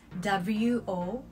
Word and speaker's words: を: always written in hiragana and never in katakana or kanji because all the particles are written in hiragana although is pronounced as o it won't be able to